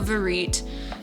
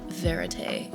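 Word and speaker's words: vérité: Anyway, uh, no, Verit. Um, you were the one telling me about Verete in the documentary world. Um, but it's actually a French word pronounced closer to verit.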